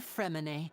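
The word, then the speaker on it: Freminet: about to give them to you that's our femine always quick with the underwater work all right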